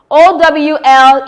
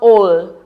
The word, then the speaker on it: owl: we have here ow O WL is pronounced owl not all okay take note we